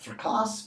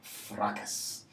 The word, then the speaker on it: fracas: what you'd always expect so this is not for costs but fracas actually not that much harder fracas so what is the